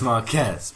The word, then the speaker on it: Marques: We had to check the pronunciation. Potato. But we know it's Marques, okay? Because we saw someone call him that, and he did not. We did like 4 searches to just make sure we get the name right.